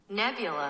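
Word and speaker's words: Nebula: ということでちょっと読み方合ってるかわかんないんで一旦 Google 翻訳でねえ読ませますこれネビュラネビュラで合ってますねはいまこの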